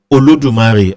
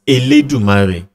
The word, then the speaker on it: Olodumare: Just the way some dialects pronounce Olodumare as Eledumare.